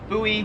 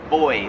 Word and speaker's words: buoy: floats in the water we pronounce that buoy here in Australia they pronounce it boy like boy and girl kind of yeah same